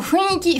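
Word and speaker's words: 雰囲気: C'est un mot qui est souvent écrit en kanji, qui est très étrange au niveau de sa prononciation. Funiki. T'as l'impression de pas avoir de dents quand tu dis ça, mais c'est comme ça qu'il faut le prononcer.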